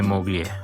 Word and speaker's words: moglie: E siamo marito e moglie. Moglie. Che L-I lo pronunciamo I.